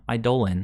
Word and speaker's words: Eidolon: Well, it's super slow, but it helps us get around Eidolon. I know some of you guys don't like that pronunciation, but it actually is correct, so deal with it.